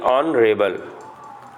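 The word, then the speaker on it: honourable: एन ऑनरेबल मैन, तो इसका एच, इसको हम क्या पढ़ेंगे, ऑनरेबल, ऑनरेबल, तो ऑन आपका अ से देखिए शुरू है, तो इसलिए हम एन का यूज़ करेंगे।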